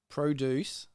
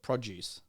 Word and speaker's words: produce: So produce in Canada, I used to call it produce. It is the exact same word. It's just how you're pronouncing the D and where you're pronouncing it.